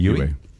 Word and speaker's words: Yue: But I will say, Princess, how do you pronounce this? Yue. I'm going to be M. Night Shyamalan. Yue.